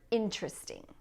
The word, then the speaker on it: interesting: Next, we have the word interesting. Interesting. Notice that when I say it, I have 3 syllables.